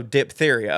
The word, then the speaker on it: diphtheria: And no, we don't pronounce the H after the P, so diphtheria, okay.